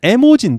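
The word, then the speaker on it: 絵文字: 발음으로는 모지라고 발음 하고요 요거 그림에 자입니다 에라고 발음입니다 그래서 원래는 에모지 그래서 일본 사람이 이렇게 발음 식으로 모지라고 쓴 건데 미국 사람들이 이걸 이모지 발음을 해본 린 거죠 그래서 어 이모지 아고 어떤 거냐면요 이런 겁니다 예 아스키 코드라는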